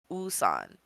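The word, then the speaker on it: WooSan: uh name is called usan or it's spelled woan but his the way you pronounce his name is ooh like like you don't say the W just saying that out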